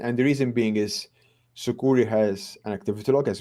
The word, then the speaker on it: Sucuri: Yes, Sucuri. Yeah, very good question, Ryan. Thanks. Yes, we do work alongside Sucuri. Actually, it's funny because Sucuri, sometimes they recommend our plugin, and the reason being is Sucuri has an activity log as well, well said,